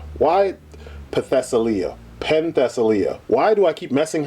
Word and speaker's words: Penthesilea: But anyway, Potentialia. Why Potentialia? Penthesilea.